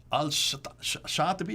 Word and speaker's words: Al-Shatibi: Al-Shatibi, is that how you pronounce it?